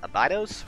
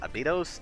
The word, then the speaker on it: Abydos: take the Kioni at Abydos, or Abydos. I have checked how this is pronounced, and both Abydos and Abydos are apparently acceptable.